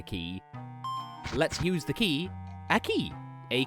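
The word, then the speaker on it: aquí: looks like a key let's use the key a key A Q UI acute Accent on the I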